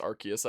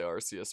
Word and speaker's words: Arceus: pokemon legends arceus game yeah i know it's pronounced arceus i always just say arceus but as me dlc or something i still